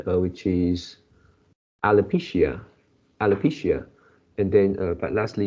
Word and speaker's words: alopecia: you change it into alopecia, something like that. So the stress is on the third word, the third syllable. Alopecia, No, it's on the third, so it's alopecia.